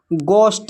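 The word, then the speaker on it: ghost: जैसे यहाँ पर देखिए गोस्ट, इसमें जो है एच साइलेंट है।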